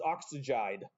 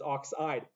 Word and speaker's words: oxide: I've had students, when they first teach them this, like, yes, it's oxygide. It's not oxygide, it's oxide.